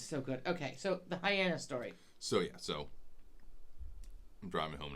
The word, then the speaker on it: Hyannis: Hyannis rhymes with my anus.